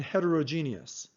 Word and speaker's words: heterogeneous: other ways for example you can say homogeneous and heterogeneous with more syllables the way I pronounce them with my accent is homogeneous and heterogeneous I have a few